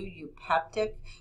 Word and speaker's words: eupeptic: EU is pronounced U, eupeptic, hetero for heterogeneous, homo